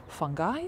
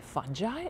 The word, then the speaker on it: fungi: fungi by the way fungi can be pronounced in three different ways fungi fungi and funguses interesting little trivia to know